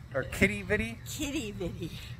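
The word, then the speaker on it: Quidi Vidi: Well, that was Quiddy Viddy, or Kitty Viddy? Kitty Viddy. With a K instead of a Q, even though it's spelled with a Q.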